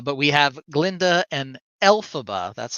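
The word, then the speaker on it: Elphaba: at this uh but we have Glenda and alphaba that's how it's pronounced correct alphaba okay arriving at the University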